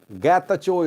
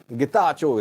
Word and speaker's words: Getachew: Getachew is not a name. Getachew is a name. Please improve it. So I'll try to pronounce Getachew, not Getachew from now on, though I forget sometimes.